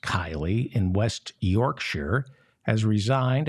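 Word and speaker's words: Keighley: In England, Mohammed Nizam, the Conservative Party's mayor of Kiley, I think it's pronounced Kiley, in West Yorkshire, has resigned after he had to apologize for posting a pro-Pride Month photograph on his Facebook page.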